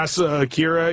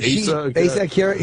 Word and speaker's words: Asa Akira: You know Asa Akira, I think you say her name? Yeah, Asa Akira. Yeah, Asa Akira.